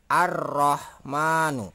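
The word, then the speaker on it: الرحمن: mohon maaf jadi untuk huruf lam ini tidak dibaca jadi yang dibaca adalah roknya jadi ini di lewat ya jadi mbak cara membacanya adalah arrohmanu ya jadi arrohmanu nah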